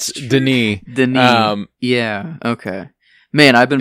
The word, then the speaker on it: Denis: I've always said Villanueva, but there are times whenever you watch interviews, whenever someone says Denis, because it's not Dennis either, it's Denis.